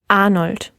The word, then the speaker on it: Arnold: arnold right yes arnold so the word arnold the a and the r they make up the first syllable so there's two syllables ar makes the first syllable and then nold is the second syllable so the letter r ends the first syllable since it's at the end of a syllable it's going to get that open r sound right lisa yes that's